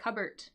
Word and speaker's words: cupboard: pronunciation of that one we don't actually say the cup part of cupo that is just Cub just just the be no pee it's a cupbo cupt anyways there is